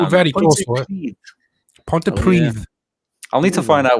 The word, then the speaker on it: Pontypridd: end Oh, is Pontypridd.